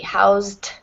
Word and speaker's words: housed: housed and helped um the Ed sounds like just a t housed and helped there's three